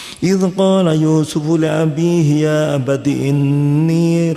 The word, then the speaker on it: Yusuf: Bahkan nama Yusuf ini pun sudah banyak disukai oleh manusia pada pemeluk agama samawi, bukan hanya Islam sehingga pengucapannya biasanya agak miring sedikit, bukan Yusuf, Yosef gitu ya.